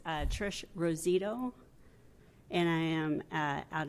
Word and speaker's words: Rosito: you pronounce that Ros rosito rosito that's an O at the end if you would say it for the record too that would help I say it correctly it's uh Trish rosito and I am uh